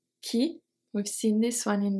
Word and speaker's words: qui: Qui, we've seen this one in the examples. Qui, the U is silent. We just pronounce Q-I. Qui, that's it.